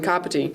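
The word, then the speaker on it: Kāpiti: The ka from Kapiti sounds like the car we drive.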